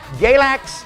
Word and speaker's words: Galax: that's why that's why we named galax because it rhymes with relax it doesn't really rhyme but it's close enough it's like barn and farm it's a near miss galax relax yeah you kind